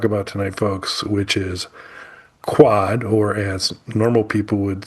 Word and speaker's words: QUOD: What we're going to talk about tonight, folks, which is quad or as normal people would say, pronounce it as they look at it. Quode should have been extra in there if they were going for that.